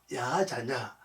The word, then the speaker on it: 야자냐: 히브리 원을 정확히 발음하면요, 야자냐, 바로 여호와께서 들으심, 여호와가 듣는다는 뜻이에요.